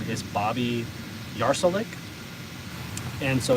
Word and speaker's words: Yarsulik: So like my full real name is Bobby Yarsolik, and so it's easier.